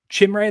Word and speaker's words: Chimere: Chimere though is apparently allegedly the pronunciation on his first name.